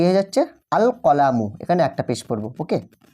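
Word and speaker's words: الْقَلَمُ: যদি যুক্ত করি সেক্ষেত্রে লাম হরফটি কিন্তু স্পষ্ট আলাদাভাবে উচ্চারিত হবে। দেখো এখানে আমরা যখন আলিফ লাম যুক্ত করে পড়ছি তখন কিন্তু লাম হরফটাকে আমরা উচ্চারণ করছি। আল কলামু আল কলামু আলিফ লাম জবর আল।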